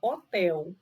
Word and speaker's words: hotel: Por exemplo, a palavra hotel. Hotel se escreve com H. Mas se você tirar o H e escrever hotel sem o H, tem o mesmo som e o mesmo entendimento.